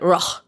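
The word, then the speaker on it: Rhône: The French version of it, Rhone. Exactly. Missing half the letters. Just take out the D, E, and S. Yeah, they're like, that's how you pronounce it here now.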